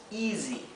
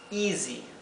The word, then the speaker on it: easy: Zzz, bien, por eso lo he transcrito con una Z.